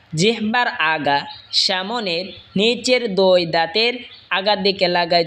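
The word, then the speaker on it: ض: জিহ্বার agar কিনারা ওপরের মারের দাঁতের গোড়ার সঙ্গে লাগা উচ্চারণ হবে দত।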